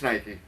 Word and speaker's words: Nike: It's Nike. It's Nike all the way. If you look at it the way it's spelled like it'd be Mike bike.